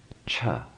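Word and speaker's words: छ: The color red-orange indicates a hard sound, unvoiced, minimal resonance in the throat, but this time having full breath. Pronounce cha, cha, cha, cha.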